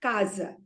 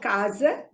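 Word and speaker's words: casa: you say the word Kaza you see it is ah the first time for the first syllable so you you stress on the first syllable so it is because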